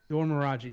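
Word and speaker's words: Dora Milaje: Dor Miraji, thank you.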